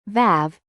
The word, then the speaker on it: ו: can carry all vowels the letter VAV originally produced a wow sound it wasn't a v as it is today and this is